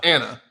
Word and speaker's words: Ana: for her oh it's it was an Ana an Ana but it was pronounced Anna yeah okay that's weird